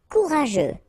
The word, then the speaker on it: courageux: Courageux, final X not pronounced. G-E-U together, they will give you this je, okay?